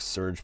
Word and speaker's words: Surge: Because if you guys, I don't know how many of you would remember, Surge, he said it's pronounced like Surge Protectors.